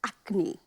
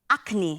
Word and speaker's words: Akhni: So today we are making a mutton akni. Akni. Akni, yes.